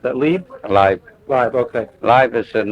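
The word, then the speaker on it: Leib: i l e i b how do you pronounce that LE live live okay live is in the okay live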